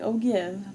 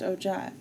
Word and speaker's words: ogive: known as an ogive now i know this looks like oh give but it is pronounced ogive the word ogive is